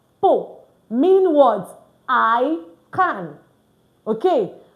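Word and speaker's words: peux: I'll say po because I like to confirm you can see the board very clearly. Po. So it's spelled P E U S but it's pronounced po mean words I can.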